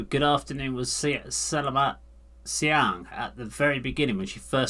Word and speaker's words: selamat siang: If you need to greet someone in a formal situation, say selamat siang.